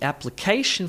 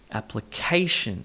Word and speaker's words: application: The application for the position was accepted. She has the capacity. The application for the position was accepted. She has the capacity. Application, emphasis on the third syllable, application. And then position, second syllable.